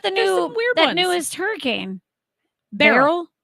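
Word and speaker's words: Beryl: new the newest hurricane barel it's not spelled like b a r r it's spelled like Cheryl well yeah barl and Cheryl them twins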